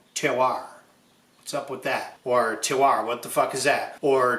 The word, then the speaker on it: terroir: Terroir is a French word for which there is no English equivalent. The French say terroir. I'm from Chicago. I say terroir.